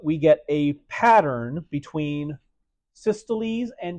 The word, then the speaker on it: systole: When the cardiac muscle contracts, we give it a word, which is that one, pronounced systole. Pronounce the E at the end. So it's pronounced systole.